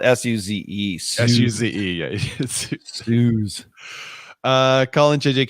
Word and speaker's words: Suze: Her name is spelled S-U-Z-E.